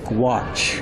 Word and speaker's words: gouache: This is pronounced gouache.